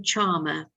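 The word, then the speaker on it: Scharmer: I would recommend you to read a book called The You Theory by Otto Charmer. The name is spelled S-C-H-A-R-M-E-R, and I will write it in the chat box.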